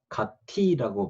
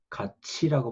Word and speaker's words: 같이: 여기 여러 가지 현상을 예를 들었는데, 티읕 받침이지만 갓티라고 발음하지 않고 갓치라고 발음하죠. 그러니까 티읕은 뒤에 모음에 갖다 붙어서 연음 현상이 일어나는데, 그 연음 현상만 일어나는 게 아니라 이 티읕이 치읕으로 바뀝니다.